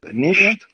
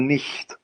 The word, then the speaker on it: nicht: There is two ways to pronounce it. It's either nicht or nicht. Nicht. Yes. With y. Yes, nicht. It's a voiceless, like y, but it's voiceless. Okay, it's like y, but it is voiceless.